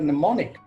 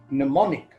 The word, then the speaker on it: mnemonic: we spell the word mnemonic mnemonic device in the word the first sound of in the word is none but the first letter is ma mnemonic so we need to